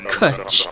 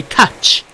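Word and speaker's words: cwtch: try and do it try and type out the word kutch phonetically is how you pronounce it it's actually really difficult to type out because i was trying to phonetically explain to borrow how to say the word yes but then people say catch or cooch it's really hard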